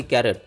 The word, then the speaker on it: Karat: ते जाणून घेणार आहोत के ए आर ए टी आणि सी ए आर ए टी या दोन्ही स्पेलिंगचे उच्चार कॅरट असा होतो म्हणजे दोन्ही शब्दांचे उच्चार